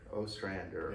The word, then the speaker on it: Ostrander: We have a guest today, the, how do you pronounce it? Last name's Ostrander. Ostrander.